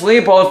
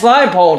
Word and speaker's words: Leipold: about his name pronunciation i've been calling him lance leopold for the longest time when it's actually lance leipold who knew but his odds are plus 525.